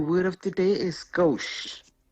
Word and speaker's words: gauche: How you pronounce it? Gauche.